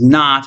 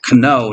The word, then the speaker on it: know: knowledge gnosis means knowledge you ever wondered why the K is silent in in English it used to not be in the Middle Ages and what you pronounce it Cano not no um so notice the